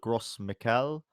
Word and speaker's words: Gros Michel: But this happened in the 1960s with the Gros Michel, I think is how it's pronounced.